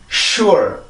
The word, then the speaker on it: sure: 1음절인데 우리나라는 2음절로 쓰죠. sure라고. 근데 여기 있는 이중모음 때문에 그렇습니다. 우리나라는 구분을 해주는 거고 영어는 이중모음이 나올 땐 1음절로만 보죠.